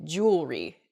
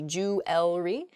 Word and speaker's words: jewelry: Where the word kind of gets a little bit smushed together and we say jewelry instead. We miss that second E sound in there. It should be jewelry.